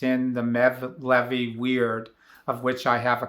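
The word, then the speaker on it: wird: those prayer books are called weird not weird as in w-e-i-r-d it's spelled w-i-r-d so this prayer is called the prayer for light and it's in the levy weird of which i have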